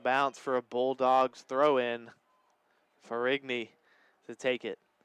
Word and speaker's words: Ferrigny: Gianna Ferrini, I believe, is what we're getting word from. That's out of bounds. That's a throw-in now for Barton, taken by Ferrini. Well, we'll say Ferrigny with the G in that last name. We'll stick with that tonight.